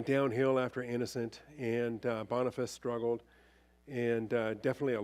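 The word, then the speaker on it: Boniface: downhill after that we get to bony face it's pronounced bonfice but I like saying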